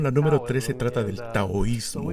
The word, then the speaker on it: taoísmo: Claro, esta lección, la número 13, trata del taoísmo. Y hemos estado bromeando con Kirk para que pronuncie bien la palabra.